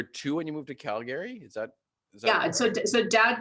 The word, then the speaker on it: Calgary: just pause you there it's actually pronounced calgary not calgary i'm just calgary you pretend you don't see the second a you know i i